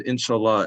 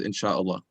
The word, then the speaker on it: inshallah: yeah so yeah so he said inshallah and um or the right way to say i guess is insha allah and uh it means if god wills and so normally we